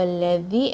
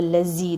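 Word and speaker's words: الذي: Qul huwa alladhi, and don't say it with a buzz, with a strong buzz like this. Qul huwa allazi, don't say it like that.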